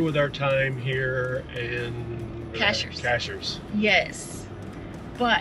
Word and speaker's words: Cashiers: Cashiers. Yes. But... I think we're saying that right. That's how the locals say it.